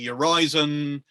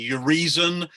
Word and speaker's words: Urizen: Some people say Urizen by analogy with horizon. Some people say Urizen because of reason, and some people say Urizen.